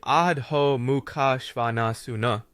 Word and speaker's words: Adho Mukha Svanasana: When it comes to Adho Mukha Svanasana, better known as downward facing dog, say Adho Mukha Svanasuna.